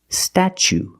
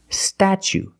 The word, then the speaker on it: statue: second or third syllable, the T is pronounced ch, like chicken and change, ch. So pronunciation, statue, statue. For the first vowel, we use the short a like black cat, sta. Then we use the ch sound, statue. For the second syllable, we use the long oo like boot and moon, oo. Together, statue.